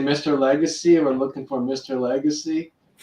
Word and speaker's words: Lagace: last name and and people that can't speak French we just call them Legacy yeah or Legacy the tell I know it's a telemarketer when they say Mr Legacy we're looking for Mr